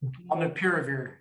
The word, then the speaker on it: Molnupiravir: Molnupiravir.